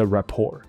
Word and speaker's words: rapport: 所以这里一个是 rapport, 那它不是个英文字，所以 T 不发音哦。